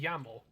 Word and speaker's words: llamo: Yeah, yeah, but I think like double L is pronounced like a Y.